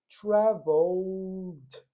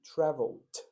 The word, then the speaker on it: traveled: que se vigiar é não pronunciem o e no final a gente interrompe o som, né? Como assim, teacher? Travel. Traveled. Interrompi. Traveled.